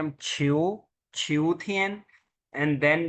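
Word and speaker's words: 秋天: Autumn, उसको कहते हैं हम छिऊ, छिऊथियन। एंड देन जो है वो होता है विंटर, तोंगथियन। समझ आ गई? छुनथियन, शियाथियन, छिऊथियन, तोंगथियन, ये जो चार मौसम हैं उनके लिए यूज किया जाता है।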